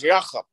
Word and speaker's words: Yakub: It's actually pronounced correctly in Hebrew as Yachab.